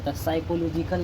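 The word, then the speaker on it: psychological: ख्याल रखा जाता है उसको कहते है पी साइलेंट है साइकोलॉजिकल यानी सिखाने वाला का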